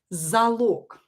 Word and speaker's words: залог: Or another word with log is залог. Давайте напишем залог. Залог. Again, we will not write A here because the last syllable is stressed, so we will write O in this root log.